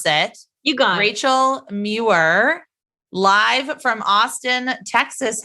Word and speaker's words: Muir: one of my favorite consultants, friends, colleagues, Rachel Muir. And I knew that I was going to mispronounce it. You got it. Rachel Muir, live from Austin, Texas.